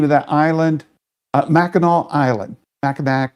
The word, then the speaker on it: Mackinac: Mackinac. It's spelled Mackinac, but it's pronounced Mackinac. We're going to try to go to Mackinac Island.